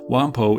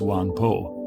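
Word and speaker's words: วังโพ: locations along the railway wampo is a western mispronunciation of the thai name for the area in this case wong po this video is going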